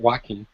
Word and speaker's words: Joaquin: And the thing that got me mad about Joaquin, that's how you say it, Joaquin, seemed like, and maybe this is how it